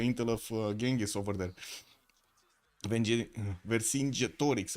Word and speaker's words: Vercingetorix: Vercingetorix, right? That's how you said I should pronounce it.